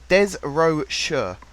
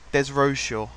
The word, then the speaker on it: Desrochaux: Ben Desrochaux. Desrochaux. Sure. Desrochaux. I'm reading the way you've pronounced it on the comments for me here. That's how you pronounce his name anyway.